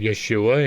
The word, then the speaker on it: Yeshua: much like with Yeshua there was no J it was y the J was a really a why that is why I pronounce it yafa and why I pronounce it Yeshua and yeesus considering the